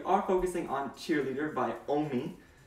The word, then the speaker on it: OMI: Now, if you couldn't tell, for today's Summer Throwback Series video, we are focusing on Cheerleader by OMI. Rhymes with foamy.